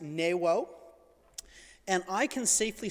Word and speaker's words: Nuo: I know it's spelt Nuo, it's pronounced Newo.